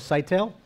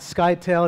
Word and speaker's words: Scytale: co-founders of a company called site tail not sky tail and knots Attali there's